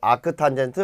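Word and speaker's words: arctan: 그러면요 탄젠트의요 -1승을 어떻게 읽냐면 아크라고 읽어요. 아크. 그래서 뒤에서 앞으로 아크 탄젠트 a다.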